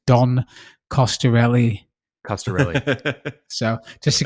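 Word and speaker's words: Coscarelli: that by the way i pronounced the director's name wrong for phantasm it's don costarelli caster really so just to get that right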